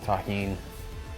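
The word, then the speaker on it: Tajín: out to everybody that knows the deliciousness of Tajin that's how you pronounce this it's delicious with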